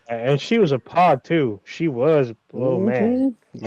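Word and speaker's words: PAWG: A pog is spelled P A WG, which is a fat ass white girl.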